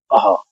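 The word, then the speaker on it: अः: इसमें हम उसका उच्चारण करने के लिए ये अ और हल्का सा हा के बाद दोनों को मिला के, तो ये आवाज हमारी निकलती है आहा। इस तरह से इसका उच्चारण ये होता है आहा।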